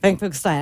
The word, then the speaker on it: Finkelstein: Her name is Finkelstein, and she has been, is that Stein or Steen? Finkelstein. Finkelstein. I am saying it correctly.